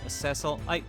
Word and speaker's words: Cecil: Ceil Ceil is like the British pronunciation. Cecil is the like North American pronunciation.